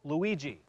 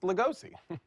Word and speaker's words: Lugosi: cookbook Stakes not Stakes please welcome Chef Emerald Luigi hi chef Luigi so nice to meet you uh it's actually pronounced legosi Chef legosi wait a minute are you are